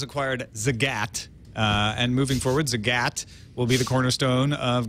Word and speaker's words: Zagat: Well, you think of the cat. All right. And then you get it. You won't ever forget again. Google has acquired Zagat. And moving forward, Zagat will be the cornerstone of Google's local offering.